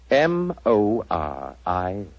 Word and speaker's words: Moriarty: I'm afraid I'll have to begin calling it the way it looks. M-O-R-I-A-R-T-Y. Moriarty.